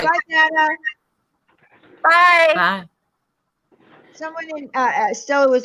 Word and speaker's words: Dana: So she, gave a way to remember Dana Banana so that you would say her name right.